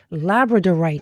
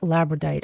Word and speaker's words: labradorite: comes out for you it was labradorite not labite I I always said